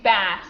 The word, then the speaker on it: bass: That one would be bass.